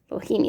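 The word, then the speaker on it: boehmei: Oh, Bohemi. Bohemi, that's how you say it.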